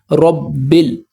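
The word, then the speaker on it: رَبِّ الْ: रबिल ब को लाम से मिलाएंगे। अलिफ यहां पर साइलेंट है।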